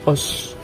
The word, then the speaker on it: OOO: Misalnya kayak Kamen Rider OS kan, OOO kan, tapi dibacanya OS.